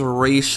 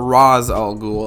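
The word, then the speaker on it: Ra's al Ghul: the a tier is race or rather raz all ghoul i i really don't like that pronunciation i much prefer race but that's what he's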